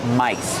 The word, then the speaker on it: mice: They are called mice. These are two computer mice. Use a long I like nice and twice.